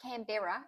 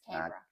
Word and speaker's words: Canberra: It's not Canberra, it's Canberra. Canberra.